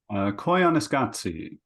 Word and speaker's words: Koyaanisqatsi: the Qatsi series, which I can't pronounce the pronounce it for me, Giles. Koyaanisqatsi.